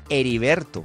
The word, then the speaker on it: Heriberto: Por ejemplo, Heriberto. No cambia nada la pronunciación de Heriberto, a pesar de que tiene H.